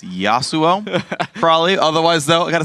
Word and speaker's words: Yasuo: he doesn't know very well those how to pronounce the name yasuo it's yasuo crawley otherwise though i gotta say it's fun guy one of my favorite interviews yes suo no no and it became like yosu like him and robert were like trolling around